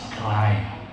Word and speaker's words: CRRIE: You just think how do you pronounce that? So I always say it's cry.